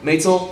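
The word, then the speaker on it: Maetel: I can never know how to pronounce this name. Maitel, thank you.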